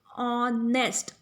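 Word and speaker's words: honest: जो साउंड हमें आ रही है ऑनेस्ट, अ इज the sound of vowel O, that's why इट्स a vowel sound.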